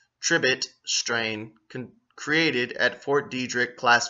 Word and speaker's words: Detrick: Look into that shit right there, Fort Detrick. And it's spelled Fort, D-I-E, like diet, rich.